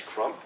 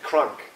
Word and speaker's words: Crump: when my plane together my name is krump he didn't say Trump but it said crunk so it's like well a good thing is that it's not Trump but I don't know